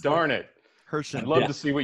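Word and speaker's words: Herschend: Hershend, yeah, it's Hershend. It's not the Hershey. It's Hershend. It's just the name of the family that owns it. Darn it. Hershend.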